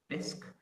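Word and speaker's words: Bisq: in fact it already exists one example is disk which is spelled B is Q and this is a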